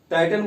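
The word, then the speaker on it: Titan: टाइटन, देखिए टाइटन बोल सकते हैं या फिर टिटान बोल सकते हैं, ये तो अंग्रेजी में उच्चारण का डिफरेंस हो जाता है।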